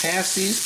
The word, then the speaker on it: pasties: Pasties. Pastries. This pastries is like paste and then pasties is how you pronounce this.